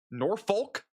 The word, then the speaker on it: Norfolk: There's an L right there. Like, does the L just disappear? So when people say it, this letter just goes away. You just said it. I did. Norfolk. I Bro, I've been saying that for a while. I'm still getting told nope by my team. So I I silent L, bro.